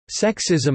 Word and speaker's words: sexism: Sexism is intended to rhyme with racism.